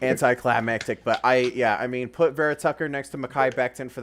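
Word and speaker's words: Vera-Tucker: I think it's Barrett Tucker. It's Vera Tucker. It makes sense. That makes sense. Kind of Beautiful pick. anticlimactic, but I mean, put Vera Tucker next to Mekhi Becton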